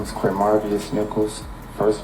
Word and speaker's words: Quamarvious: it again all right slow down your name spell it for this young lady right here okay my name is qu marus Nichols first name Q UA m a r